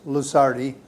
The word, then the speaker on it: Lusardi: the audience please okay my name is luzardi i go by uh luceri is spelled l-u-s as in sam a-r-d-i is that